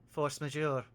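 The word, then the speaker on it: force majeure: In contract law, they call that force majour. I expected that be something I actually couldn't pronounce.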